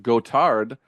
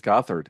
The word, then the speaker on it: Gothard: correctly it's funny because I always thought that your last name was pronounced gotard like the French pronunciation but you said it's Gothard is that right thanks thanks for that